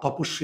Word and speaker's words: তপস্বী: এখন মায়াবী মেধাবী এখানে বয়ের উচ্চারণ হয় বর্গীয় ব, আর তপস্বী এখানে ব আছে কিন্তু বয়ের উচ্চারণ হয় না, তাহলে এটা অন্তঃস্থ ব।